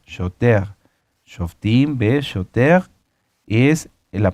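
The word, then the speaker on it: שוטר: Y shoter se escribe shoter con R, pero recuerden que la R en el hebreo se pronuncia como una G, shoter.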